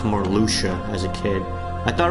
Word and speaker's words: Marluxia: I thought it was pronounced like Miracula. Like, I added a Q to his name. There's no Q in Marluxia, and somehow as a kid I added a Q to his name.